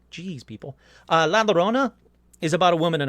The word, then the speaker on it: La Llorona: nightgowns and it's everywhere la Llorona look I said it right that time sorry I didn't say right on the episode geez people la Llorona is about a woman